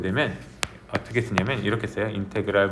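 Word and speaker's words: integral: 이거를 이제 읽어 주기로는 뭐라고 읽어 주냐면 인테그랄 거죠. 인테그럴 이게 인테그럴 인테그럴 미국식반으로는 이니그럴 이렇게 한게 이니그럴 하지만 선생님은 한국 사람이라서 인테그랄 이렇게 표현할 거예요.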